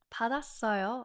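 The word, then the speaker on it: 받았어요: Wow, that's how you know why we sound so smooth when we say certain words because of the carryover rule with the batchim going to the next syllable.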